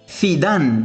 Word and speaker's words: زيدان: مثلا مدرب ريال مدريد اسمه زيدان بالإسبانية، زيدان وليس زيدان، زيدان باللغات الأخرى، أما بالإسبانية ينطق زيدان، زيدان.